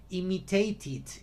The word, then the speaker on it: imitate: Decided, depended, imitated. Igual, acaba en E, pero no se pronuncia, se dice imitate. No se pronuncia la E.